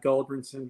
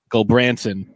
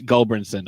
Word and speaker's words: Gulbranson: So, but yeah, Gulbranson is probably like Robinson, Mrs. Robinson. So think of that, Gulbranson. That's the best way to try to get it right. Yeah, Unless you're in Norway, Gulbranson. Yeah, I was putting the emphasis on the wrong syllable.